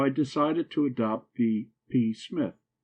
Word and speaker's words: Psmith: decided to adopt the P Smith the P I should add for your guidance is silent as in p psychic and Tagan you follow me